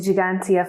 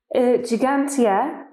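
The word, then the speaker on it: Ġgantija: maltese means giant giant in the maltese we have got two g's one soft g and one harsh g and gigantia has got the twos the first two g's so gigantia it's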